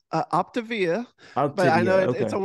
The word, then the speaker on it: Optavia: It's an Octavia coach. What is that exactly? Yeah, so it's actually pronounced Optavia, but I know Octavia, okay. it's a weird spelling, but yeah, it's Optavia.